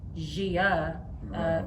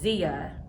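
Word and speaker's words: Xia: it wrong calling her gia gi but yes it's zia pronounced with a z but spelled x i a a parser v s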